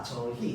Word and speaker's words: 저희: 자, 저희는 어떻게 발음해? 이로만 발음합니다. 저희야, 맞죠?